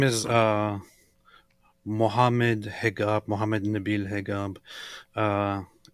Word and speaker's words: Hegab: Muhammad niil hegab uh in Egypt they PR they they kind of pronounce the same letter that you use for a j sound with a with a g in traditional ways and name themselves and